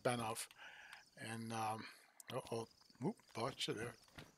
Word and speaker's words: Banov: i think it's pronounced i think it's pronounced banoff and um oh oh